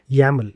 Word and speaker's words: YAML: yaml that is playbook.yml we pronounce it as yaml even though it is spelled as y m l or yaml and the